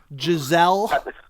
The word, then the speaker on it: Giselle: Giselle.